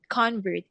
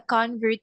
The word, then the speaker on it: convert: He is a convert. It's a noun. He it's his it's his identity. It's who he is. But you will never convert me. That would be the the the action word, the verb.